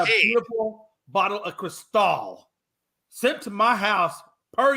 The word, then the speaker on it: Cristal: With your takes, I'm thinking you want a bag of Crystal. Not, I think you're just saying it wrong. I said Cristal. The way it's supposed to be said is Cristal.